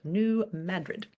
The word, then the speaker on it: New Madrid: with great pleasure that I do not have to explain to this audience that I'm not making a mistake that is in fact how you pronounce it New Madrid um a series of